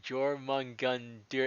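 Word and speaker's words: Jörmungandr: and uh face salinger yo mungundir oh geor jorman gun dear is how you say it i believe yeah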